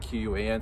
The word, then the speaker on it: Quan: is, and then Quan is like Q-U-A-N. Sorry, in Chinese we pronounce the Q with a CH, so everyone says Quan instead.